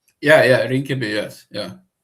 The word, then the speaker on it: Rinkeby: visited a area um excuse me if I pronounce it wrong, uh Rinkeby? Yeah, yeah, Rinkeby, yes.